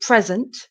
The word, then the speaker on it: present: some children in and this is exactly the same pronunciation present with the stress at the beginning of the word the first syllable present PR present um